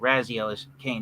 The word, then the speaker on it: Raziel Kane: Raziel Kane is how your name is pronounced.